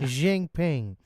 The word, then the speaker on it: Jinping: Jinping.